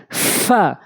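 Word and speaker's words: ف: এভাবে উচ্চারণ করবো আমরা ফা ফা ফা ফা নিচের ঠোঁটের পেট উপরের দাঁতগুলা নিচের ঠোঁটের উপর দিয়ে রাখবেন ফা ফা ফা এভাবে উচ্চারণ করবেন এরপর আসুন কফ কফ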